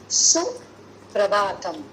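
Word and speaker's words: सुप्रभातम्: Okay, இப்போ please note the pronunciation. It is suprabhatam. Okay, prabhatam. Bha is mahapran, ரெண்டாவது பா. So bha is the fourth letter, but in the bha it is the second bha.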